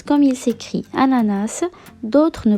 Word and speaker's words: ananas: façons différentes certains le prononce comme il s'écrie ananas d'autres ne prononce pas le set final est ce que